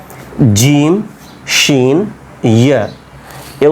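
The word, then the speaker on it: ج: লাগিয়ে পড়বেন জিম দেখেন জিম শক্ত করে একবার জিহ্বাটাকে উপরে একবারেই লাগায় দিবেন পুরোটাই জিম শিন ইয়া ইয়া ঠিক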